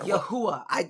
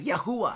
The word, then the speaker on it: Yahua: Yahua. I did say it right. Yahua.